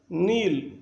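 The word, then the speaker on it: know: अगर एन के पहले के हो तो ये साइलेंट होता है, बोलता नहीं है, याद रखें।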